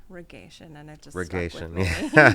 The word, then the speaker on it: reggaeton: Regation, yeah. Yep. Aisha Okay, I Saxon. Good love morning. Regation. Regation. Yeah. Oh, that's how you say. Yeah. That's how I say. How do you say? Reggaeton? Reggaeton. Reggaeton.